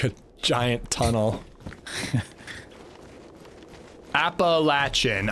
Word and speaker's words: Appalachian: Appalachin. I I I think people around me pronounce it Appalachian. I don't I don't think I'm wrong. I think it's just a different pronunciation here.